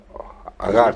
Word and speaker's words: Agar: Agar, sí, ya.